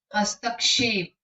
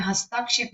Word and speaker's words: हस्तक्षेप: आंसू, हस्तक्षेप, हस्तक्षेप में हस्ताक्षेप नहीं, हस्तक्षेप। आशीर, आशीर देखिए श के